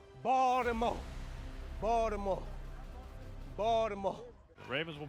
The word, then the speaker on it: Baltimore: Don't pronounce the T. You hear that word? Baltimore. Baltimore.